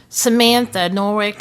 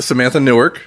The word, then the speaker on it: Samantha Newark: They had their own lineup, though, and then there was like Samantha Norwick. Am I saying that right? Samantha Newark. I was saying it wrong a little bit.